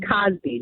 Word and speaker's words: Cosby: On Cosby, not Cosby.